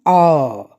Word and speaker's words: hour: So let us see an R. There it is. R. That is the first sound. H is silent.